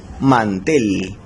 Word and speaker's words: mantel: Por ejemplo, aquí tenemos la palabra mantel. Mantel lleva la mayor fuerza de voz en la última sílaba, sin embargo no se va a tildar porque no termina en NS o vocal.